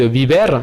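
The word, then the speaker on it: vivir: D'ailleurs, ceux qui font espagnol le savent, quand vous dites biber pour dire vivre, en fait vous dites biber, mais ça s'écrit avec des V.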